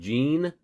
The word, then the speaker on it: gene: Oftentimes G's sound like J's, like as in gene, Gene. It's got a J sound.